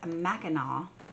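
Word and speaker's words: Mackinac: learned is that um I said the island's name wrong it's Mao Island So Silent SE on there so Ali is taking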